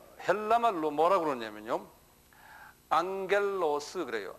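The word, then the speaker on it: ἄγγελος: 될 거예요 천사는 아 헬라 말로 뭐라 그러냐면 앙겔로스 그래요 앙겔로스 한번 발음해 보세요 입으로 발음하는게 제일 빨리 자기 것이 돼요 예 좀 시끄럽게 말을 하세요 예 앙겔로스 안 하는 사람 있어요 보면 안 하는 사람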